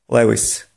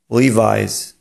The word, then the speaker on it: Levi's: I kolejne słowo, którego nieprawidłowa wymowa w języku angielskim może brzmieć Lewis. Lewis. To jest błąd. Choć w języku polskim jak najbardziej forma ta jest prawidłowa, mówiąc w języku angielskim nie zostaniemy zrozumieni. Prawidłowa wymowa tego słowa brzmi Levi's.